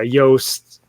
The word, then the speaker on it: Yost: only one but yeah Yost it kind of rhymes a toast to seize its evil